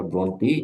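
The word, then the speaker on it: Brontë: যদি বলেন যে একটা পড়ব এটা হারল ব্রন্টি উচ্চারণটা ব্রন্টি এখান থেকে পড়বেন জেনা এটা জাতীয় বিশ্ববিদ্যালয় পড়ানো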